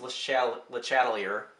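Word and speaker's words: Le Chatelier: Again, bonus points if you convince people that it's pronounced LeChatlier.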